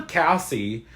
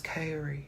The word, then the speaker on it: Carrie: principle ever Hees a damn he gets her name wrong he calls her Cassie like 10 different times and she keeps going it's krie I love her voice I love her voice